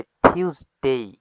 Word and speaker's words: Tuesday: দেন হচ্ছে টিউসডে। টি, এই যে এটা টি না, এটা টি উচ্চারণ হয়ে যাবে, TUES, টিউস, DAY ডে, টিউসডে মিন মঙ্গলবার।